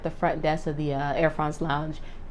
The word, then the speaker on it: Air France: So the concierge at the front desk of the Air France lounge, and I say France because that's how they say it, Air France. They don't say Air France. They say Air France, you know, like that.